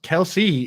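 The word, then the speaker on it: Kelce: guys see what Travis Kelsey came out and he was like just so you guys know our name is pronounced Kels and Kelsey is a nickname that everyone calls all of us like so I have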